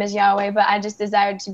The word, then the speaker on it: YaHuWah: to make it clear, I have nothing against people who believe in a different pronunciation of the name, such as Yahweh, or, you know, however they believe in pronouncing the name. But for me personally, I so desired to be united with my husband and how I was convicted in saying the name as YaHuWah.